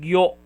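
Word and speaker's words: ぎょ: And we have here gyu and gyo, gyu and gyo. Okay, you is a little bit harder, gyu, and a little bit softer for o, gyo, gyo.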